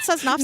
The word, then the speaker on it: Sosnowski: Is it not Sosnowski? No, you nailed it.